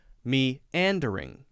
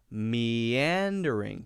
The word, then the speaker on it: meandering: meandering this is broken a lot of people will say me and during me and during we need to know that there's a syllable break there but we should also recognize that it's important to make those flow that one should go naturally to the next so we shouldn't say me and during we should say meandering put a little why